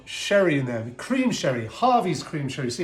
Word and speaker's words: Garvey's: I was like, Garvey's? What's Garvey's? Duh, Harvey's, because G's are pronounced like H's, and I felt so stupid afterwards, but there we go.